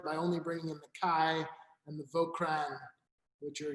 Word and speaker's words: Caille: It's a little bit more, the word Caille, it certainly sounds like the word quail in French, but it's, I guess